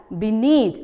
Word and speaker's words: beneath: So I have said as beneath. It is beneath. B-E-N-E-A-T-H. Okay. So the letters B-E is silent here.